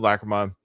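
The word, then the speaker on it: Lachryma: Lacroma or Lacrimma. Lacma. Lacroma. So, both Peacefield. Lacroma.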